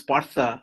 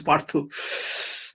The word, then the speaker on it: Partha: In America, I'm known as Partha, because that is how most people, Americans, pronounce it here. Now in India, in Kolkata, if I say that my name is Partha, then nobody would understand what I'm talking about, because there it is Parthu.